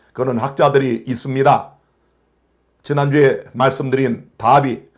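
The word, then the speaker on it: Darby: 지난주에 말씀드린 다비, 존 넬슨 다비, 혹은 다르비라고도 이렇게 발음합니다. 다르비, 다비 같은 사람입니다.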